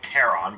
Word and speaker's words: Charon: as the well of charon or they pronounce it caron but i still think that's wrong the well of charon